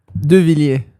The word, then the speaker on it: Deviliers: Yeah, how do you pronounce it? Deviliers.